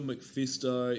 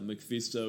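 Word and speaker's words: MacPhisto: so they were going to say bono you're mcfisto in batman forever so every time you say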